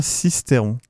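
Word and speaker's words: Sisteron: c'est beau cisteron what cisteron se prononce bien cisteron ah bon il ça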